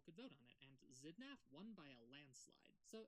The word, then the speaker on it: Xidnaf: Okay, Hello, my name is Xidnaf, pronounced Xidnaf. voiced alveolar, voiceless, labiodental fricative.